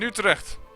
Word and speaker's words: Utrecht: In Utrecht. And yes, that's how you pronounce it.